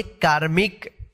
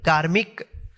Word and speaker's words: कार्मिक: ऊपर फिर के है इसको पढ़िए कार्मिक का के बाद आधा रॉ का उच्चारण करेंगे कार्मिक धामी का है तो